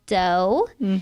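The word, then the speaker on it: Deux: baking them too but it's called dough it's spelled d-e-u-x and um yeah we're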